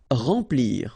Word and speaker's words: remplir: Remplir. Okay, M nasal, en, remplir.